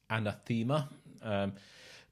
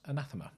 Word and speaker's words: Anathema: by some people as anathema but the english word anathema is pronounced anathema and it is spelt